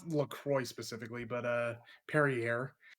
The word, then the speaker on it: Perrier: what was what how was the other one pronounced pierre right pierre carrier be a perrier not a fan at all but it's just